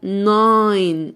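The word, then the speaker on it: nine: رقم تسعه اسمه ناي ناين ناين طبعا ايه في الاخر لا تنطق الصندوق بتاع القمامه اسمه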